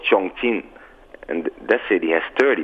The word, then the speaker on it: Chongqing: How do you pronounce that again? Chongqing.